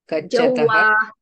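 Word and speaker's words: गच्छतः: Ta doesn't have mahaprana. In the first column comes up in Kriyapadam because that mahaprana, alpaprana makes a difference.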